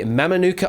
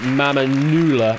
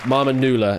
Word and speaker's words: Mamanuca: it is yes also i failed to pronounce it right it should be mama newla marmanullah it should have been but fiji was the